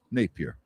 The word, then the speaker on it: Napear: Yes. Two syllables. Napier.